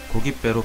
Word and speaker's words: 고깃배: 고기와 배가 합쳐져 고깃배로 발음이 날 경우 표기는 시옷을 첨가한 고깃배로 적어줍니다.